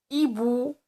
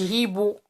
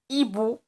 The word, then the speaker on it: hibou: hibou, hibou. S'il vous plaît, la lettre H ما كتنطقش في la langue française. d'accord؟ ما كنقولوش hibou. d'accord؟ hibou, hibou.